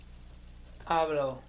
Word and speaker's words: hablo: to say to speak it begins with a silent h good and what is I speak or un speaking ablo ablo ablo good and